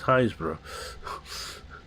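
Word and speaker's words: Happisburgh: It's actually Happysburg is what it looks like on the paper, but it's Haysborough.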